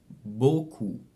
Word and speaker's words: beaucoup: So AU is O, and of course, EAU is the same thing. So both of them are pronounced O. Par exemple, chaud or beaucoup.